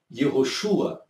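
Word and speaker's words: יהושע: Então você tinha o Yud, você tinha o Re e você tinha o Vav, que as pessoas pronunciavam Yehoshua.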